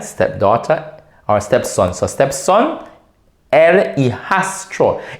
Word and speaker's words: el hijastro: So stepson, el hijastro. It looks difficult, but it's not difficult to pronounce. Just syllabicate it, 2 letters at a time.